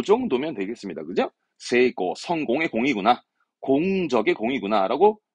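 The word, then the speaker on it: 成功: 발음은 네, 세고, 세고.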